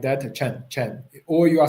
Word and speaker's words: Chen: But actually in Chinese, you have to put them together as one sound, one syllable like this.